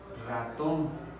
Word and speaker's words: ratón: Ratón. Si yo descompongo es ratón. La sílaba tónica es tom.